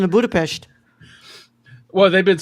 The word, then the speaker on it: Budapest: It's pronounced Budapest. There's no H in that. How am I supposed to know that? Yeah, sorry, Brad. I just had to because I've seen some Hungarian YouTubers who pronounce it Budapest.